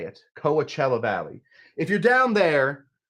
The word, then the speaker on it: Coachella: that is the right way to say it Coachella Valley if you're down there you're going to